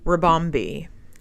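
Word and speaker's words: Ribombee: yeah number two okay my number two is rebombi it sounds really really yeah you're gonna know it immediately how do you spell it r-i-b-o-m-b-e oh yeah I see it okay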